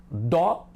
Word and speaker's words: dó: Dó a gente fala forte. E o som é aberto, alegre, ó. Do a gente fala fechado, o.